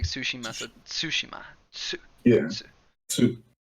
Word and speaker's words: Tsushima: to do like a little T sound at the beginning, but yeah, it's like Tsushima.